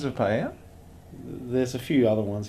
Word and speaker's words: paella: Well, a lot of people pronounce the L's that are spelt in the word, but that's more, I guess, English. It's a very westernized sort of pronunciation of it.